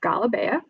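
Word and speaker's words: galabiya: block um this is galibaya um it's pronounced differently depending on where you are in the near east so if you have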